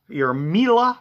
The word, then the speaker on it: Miele: So you can put your Miele, which rhymes with Sheila, or Sibo, which is a vacuum cleaner brand I sell.